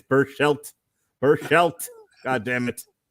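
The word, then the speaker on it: Berchelt: and patrick's patrick's just absolutely irritated with my pronunciations he said it's burst shelt burst shelt god damn it that's okay you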